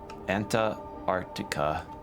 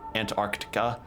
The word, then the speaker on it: Antarctica: whenever you say Antarctica, most people don't really pronounce the T in there. or no, not the T, the the C between the R and the T there because it's just such